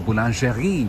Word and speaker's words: boulangerie: It's a boulangerie. Boulangerie Chocopain. That's how you pronounce it.